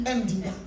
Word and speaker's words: Ndinga: Quand il t'appelle Dinga, il ne dit pas Dinga, il dit Ndinga. Ils ont la manière de prononcer.